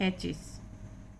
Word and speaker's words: hatches: वो आया हुआ है कि टी के बाद जब भी सी एच आता है तो हम टी का उच्चारण नहीं करते हैं, टी साइलेंट हो जाता है।